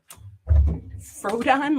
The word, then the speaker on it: Frodon: same but it says frodon frodon like radon Gollum and frodox is